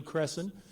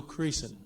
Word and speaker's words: Creason: Sherry Lou Creason, and I learned that that is the correct pronunciation if you've been calling her Mary Lou Cresson. That isn't right. It's Mary Lou Creason.